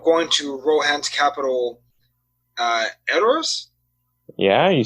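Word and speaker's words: Edoras: they end up going to rohan's capital uh errors yeah you said it right good job hey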